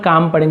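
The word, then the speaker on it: calm: काल्म नहीं पढ़ेंगे, L silent है, केवल काम पढ़ेंगे, इसे काम डाउन, शांत हो जाओ, उसे काम डाउन कहते हैं, ठीक है, शांत हो जाओ।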